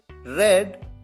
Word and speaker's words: read: यहां पर ध्यान रहे कि सेकंड फॉर्म और थर्ड फॉर्म की स्पेलिंग तो सेम होती है, READ, लेकिन प्रोनाउंस डिफरेंट तरीके से किया जाता है। फर्स्ट फॉर्म है रीड, सेकंड फॉर्म है रेड, थर्ड फॉर्म भी है रेड और फोर्थ फॉर्म रीडिंग।